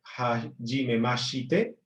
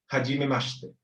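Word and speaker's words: はじめまして: O sea que esta palabra no va a ser hajimemashite, va a ser hajimemashite.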